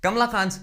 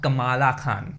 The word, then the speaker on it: Kamala Khan: Kamla Khan's names cameo has been made. Oh, and by the way, it's Kamla Khan, not Kamala Khan. Only my Indian and Pakistani brothers will get the pronunciation right.